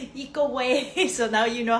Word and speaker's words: Ikue: It's very hard to pronounce at first, but my name sounds like eco-friendly, eco-way.